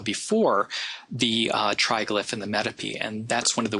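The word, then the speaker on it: metope: between it called the metapee you may hear a different pronunciation of that I think um uh not Mito but uh mitopi or something like that is how I've heard it pronounced but the metapee um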